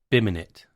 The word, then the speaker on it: BIMinit: expert, Robert Wygant, explaining their new Revit plugin, BIMinit, pronounced BIM in it.